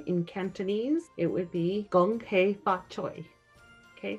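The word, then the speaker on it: Gong Hei Fat Choi: It would be Gong Hei Fa Choi.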